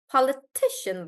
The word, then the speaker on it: politician: one right before that and we'll say politician politician like that so let's see how the syllable stress changes guys politics political politician yeah so this is how the syllable stress shifts this is called the shifting pattern of syllable stress and as the root word keeps getting bigger the stress also starts moving towards the back so I'll take ausa's